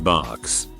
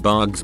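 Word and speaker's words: Barq's: My favorite root beer is Barks. Has been since I can remember. I pronounced it bugs because of the font until I was 22.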